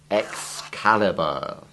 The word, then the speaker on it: Excalibur: And let's add to the hard C examples King Arthur's magic sword. Excalibur.